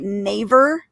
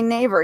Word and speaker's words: Naver: um bought out by am i going to say it right naver you think that's the neighbor okay they were just bought out by naver now naver is the